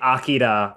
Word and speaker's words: Akira: I Sometimes when I say Akira, which is the Akira. actual pronunciation, people yell at me.